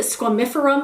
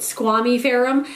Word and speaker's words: squamiferum: my philodendron squamy ferum i've also heard someone pronounce it squamifurum before and i don't like that i like it squamy pherom um i bought this